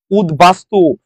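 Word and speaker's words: উদ্বাস্তু: হয়ে গেছে জয় ধ্বনি কারণ এখানে একটা বফলা আছে উদবাস্তু উদবাস্তু আমরা কি শিখেছি যদি ব ফলা যদি এই যে মাঝে আছে মাঝে আসায় কি হয়ে গেছে বফলাটা মাঝে আসায় এখানে ব ফলাটা উচ্চারণ রয়ে গেছে এটা মাঝে আসে নাই শুধু এটা দ এর সাথে এসেছে আমরা নিয়মে শিখেছিলাম যদি দ এই দ এর সাথে যদি বফল আসে বফলাটা অপরিবর্তিত থেকে যায় এরপর আসেন যশোর বোর্ড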